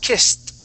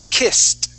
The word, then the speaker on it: kissed: kissed kissed all right if my tongue were touch my teeth it would sound like this kissed okay it's not as strong kissed I can hear when your tongue touches your teeth all right you want to pull your tongue back and Arch it so it touches the top of your mouth okay kissed all right it takes